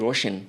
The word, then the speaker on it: RSHN: Now, yours is DJ Roshan. Yeah. But it's spelled RSHN, right?